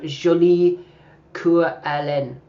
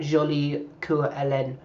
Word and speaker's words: Jolie Coeur Hélène: Yeah, let's have a small bet on Jolie Coeur Hélène. And you have to say it like that with that French accent. 9 to 2 about Jolie Coeur Hélène.